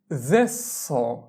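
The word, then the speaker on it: gesso: এরপরে জেসো, জেসো, জেসো।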